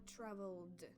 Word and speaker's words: traveled: Так, звернімо увагу, що ось в цьому оця і не вимовляється. I traveled, тобто L зразу разом звучати.